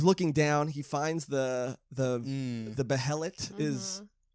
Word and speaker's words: behelit: He finds the behelit is. I found out how the right way to say it. Oh, it's behelit? Yeah.